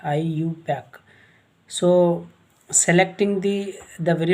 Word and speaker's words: IUPAC: by iupac so so how to pronounce this iupac iu pack so selecting the the